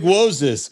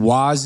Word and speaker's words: Woz: Big Wozes. That's the thing, though. Like, Woz is actually closer to the ethnic pronunciation than Waz is.